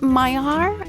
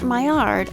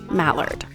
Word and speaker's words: Maillard: And either Maillard or Maillard are probably fine. Definitely not Mallard.